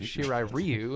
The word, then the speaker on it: Shirai Ryu: in the game i did like that they pronounced it correctly in this movie japanese yeah they made it shirai ryu instead of ryu uh but they didn't call